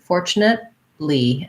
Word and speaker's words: fortunately: fortunately um knitly fortunately we use kind of a stop t there where i don't really say fortunately because it wouldn't be too hard to go right into the l so go up to